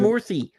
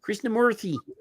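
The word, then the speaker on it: Krishnamoorthi: Krishnamurthy. I've been saying it right the whole time. Krishnamurthy.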